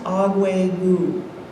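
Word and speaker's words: Akwé:kon: a try it pronouncing it's a mohawk word it's um it's pronounced agua so it means everything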